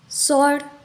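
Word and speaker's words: sword: हो जाता है आंसर सर्ड यहां पर भी सस के बाद आया हुआ डब्लू साइलेंट हो गया आर से पहले डब्लू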